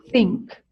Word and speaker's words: think: So please put your tongue in the middle of your teeth. So it's think, think. Please try that. Put the tongue in the middle of the teeth.